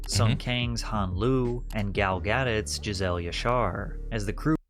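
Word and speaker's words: Gadot: Kang's hanlu and gal gadit Jazelle yashar as the crew that's a way to say her last name I mean gal gadit I thought it was gal gadoo oh my God this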